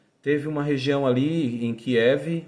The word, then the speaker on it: Kiev: uma região ali em Kiev ou alguns pronunciam kiv onde 30.000 judeus 30.000